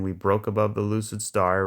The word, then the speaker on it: SAR: So the stars are very... The SARs, well, I call them stars, but it's pronounced SAR.